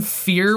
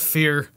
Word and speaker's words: Fier: But they recorded in a haunted house, and they had a guy, Alan Fear was his name? Yeah, so it's Stop. Anton Fier. It's F-I-E-R. It doesn't matter. It's pronounced Fear.